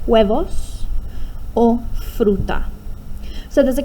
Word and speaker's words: huevos: Huevos, remember that H is silent. Huevos, or fruta.